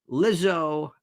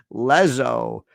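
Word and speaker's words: Lizzo: you enough with this lizo I was I was I was pronouncing her Leo the first time go well anyway it's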